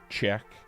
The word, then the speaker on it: Czech: Shazek. No, why did I pronounce it like an idiot? Czech.